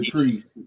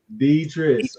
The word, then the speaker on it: Deetris: I said the Treese. You still saying it? Did I say it right? Deetris.